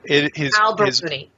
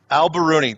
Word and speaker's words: al-Biruni: Al-Biruni. Al-Biruni. There he is. Yeah, his full name, Persian, is tough to pronounce.